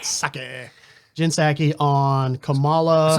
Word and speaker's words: Psaki: I always say Psaki. I know that's not how you pronounce it. Saki.